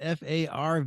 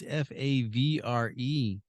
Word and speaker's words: Favre: It's not Farve. It's Favre.